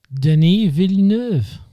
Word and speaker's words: Denis Villeneuve: directed by, now here's the thing, can you pronounce the name of the director? Denis Villeneuve.